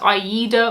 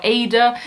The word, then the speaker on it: AIDA: On now to a cruise line which is either pronounced AIDA or AIDA, depending on who you are.